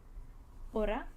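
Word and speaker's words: hora: And it is never pronounced. It does not have you just ignore it. If you see it in the word, you ignore it. You don't pronounce it.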